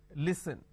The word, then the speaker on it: listen: that li sir no listen they replace the sir with a z and they say listen it's not listen it's listen even if i add